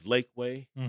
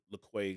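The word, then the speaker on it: Laquey: It was Lakeway or LaQuay, excuse me.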